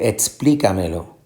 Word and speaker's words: explícamelo: que le expliqué algo usted va a decir explícamelo explícamelo son como decimos cómo se escribe la palabra explícamelo explícame eso verdad touché explícame el problema tú le dices a la persona explica me lo explica melo y ahí vas a